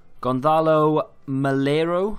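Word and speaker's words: Gonzalo Melero: Gonzalo Malero, that's how you say his name, of Huesca, 2 goals and 1 assist in a 3-0 win.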